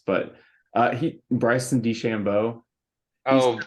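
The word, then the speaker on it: DeChambeau: his name because it's kind of weird to pronounce but uh he Bryson D Shambo oh de chambo yeah he's kind of older now but especially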